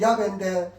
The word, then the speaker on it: 야훼: 원래 뜻은, 원래 본 발음은 야훼인데, 여러분 일본은 큰 글자로 구약성경에 여호와를 주로 번역합니다.